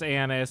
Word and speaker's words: anise: looked up the pronunciation of anise. Ha! It's anise.